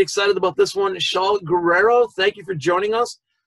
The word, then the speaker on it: Guerrero: Not everybody rolls the R's, and sometimes I don't if I'm feeling lazy. What's the perfect pronunciation, though? Guerrero, baby.